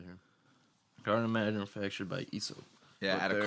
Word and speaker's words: IESO: Oh, ESO. there it is. On the bottom right here. Garden manufactured by ESO.